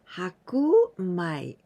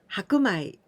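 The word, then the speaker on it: 白米: We add this kanji of shiro, white, the color white, and in this case we pronounce hakumai, hakumai.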